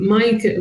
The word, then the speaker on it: Maaike: to understand my name, Maaike, which is spelled M-A-A-I-K-E, I actually have to write it as M-I-C-A for the American assistant in order to make sense of it and interpret it as Maaike.